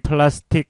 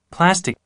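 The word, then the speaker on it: plastic: 스틱 이란 단어를 드려보겠습니다 포스틱 프라스틱 무리한 링 플라스틱 플라스틱 이렇게 발음 하잖아요 잘 그렇게 앞으로 하지 마시고 어떻게 해야 되겠습니까 이렇게요 파 스틱 제 앞에 강세를 줘야 되겠죠 파 스틱 그 다음에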